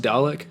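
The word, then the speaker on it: Dälek: i was listening to dialect since like the 2000s and there isn't it pronounced dalek like that's a mc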